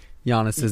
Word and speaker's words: Giannis: Also, I feel like it should be the end of this podcast intentionally mispronouncing Giannis's name.